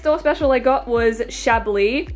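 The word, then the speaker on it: Chablis: special I got was shably I used to pronounce it as shabilis because I had no idea that the S was silent so uh this is shadowy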